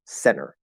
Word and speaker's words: center: say this by far this word is almost always pronounced center no t at all the t just disappears and it's because of the uh nt plus vowel rule because er remember